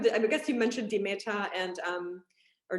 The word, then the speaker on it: Demeter: alternatives aside from the i guess you mentioned demeta and um or d meter i guess how do you say it yeah yeah demeter biodynamic yeah yeah i mean we all like